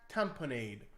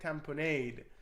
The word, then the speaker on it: tamponade: In today's training, we're going to talk about cardiac tamponade or cardiac tamponad. I know there's a different pronunciations out there. I like to say cardiac tamponade.